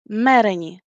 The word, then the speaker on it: mereni: And as you have noticed that we have meren, mereni. So the stress is the same because the second to the last vowel in mereni is not long. That's why we stress the third to last syllable.